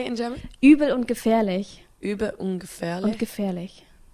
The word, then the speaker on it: Übel und Gefährlich: And you're playing in the Übel und Gefährlich, which means it's a really cool underground club.